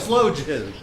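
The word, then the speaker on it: sloe gin: Am I pronouncing that right? Oh, What? slow gin.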